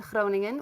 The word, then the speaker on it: Groningen: you doing there so right now i'm in groningen which is the dutch pronunciation for groningen in the netherlands which is like three